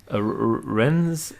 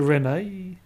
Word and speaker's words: Rennes: But I believe ES at the end is silent, so Rennes would be. Is it Rene? No, it would just be Rennes. No, Rennes. And also R's in French are.